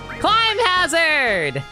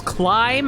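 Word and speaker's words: Climhazzard: Climb hazard. Or is it clip? Okay, Chad, do you pronounce it as climb? Like climbing something? Climb hazard.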